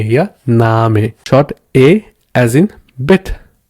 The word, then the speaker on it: Name: But as a long A as in Name. Yeah, you see? Name.